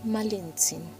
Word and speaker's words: Malintzin: nombre de verdad es Malinzin. Puedes pronunciarlo suave, malin con una caricia al final. Hay algo dulce en repetir su nombre. Malinzin, como una cuerda que al mecerse no golpea, solo vibra.